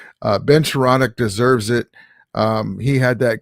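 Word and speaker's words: Skowronek: Ben Sharanek. Ben Sharonic deserves it.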